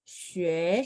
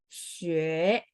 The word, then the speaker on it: 学: Xue. 学 Ya, bagus ya. Jadi mulutnya dibulatin separuh ya. Xue.